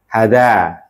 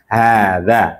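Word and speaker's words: هٰذا: Jadi bacanya bukan hadza kurang tepat tapi hadza tib ahadza baitun.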